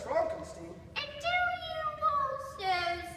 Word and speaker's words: Frankenstein: Frankenstein. Are you putting me on? No, it's pronounced Frankenstein.